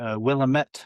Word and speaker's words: Willamette: Willamette, I believe is how you pronounce it.